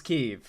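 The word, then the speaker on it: Kyiv: any knowledge of this issue should know how keev is pronounced Trump really has to threaten is more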